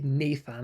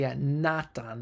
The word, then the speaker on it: Nathan: My given name is valid in Icelandic, and while I say /ˈneɪθən/ in English, I've decided to say /ˈnaːtʰan/ in Icelandic to simplify pronunciation and spelling.